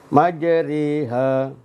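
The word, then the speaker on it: مجريها: Bacaan imalah itu adalah bacaan harokatnya, suaranya miring. Ya, kalau dilihat di Al-Quran tulisannya ya harokat fathahnya berdiri seperti harokat-harokat yang lain. Tapi cara membacanya beda. Yaitu menyondongkan suara fathahnya itu ya antara fathah dan kasrah.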